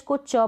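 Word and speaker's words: catch: रहा है या टी आई एन साथ में ए रहा है तो वहां पर टी जो है साइलेंट रहेगा कैसे जैसे ये मैच पढ़ा जा रहा है कैच पढ़ा जा रहा है टिक का उच्चारण नहीं हो रहा च को च पढ़ रहे हैं लेकिन टी प्रोनाउंस हो रहा है नहीं मैच है कैच है ऑफेन तो ये ऑप्शन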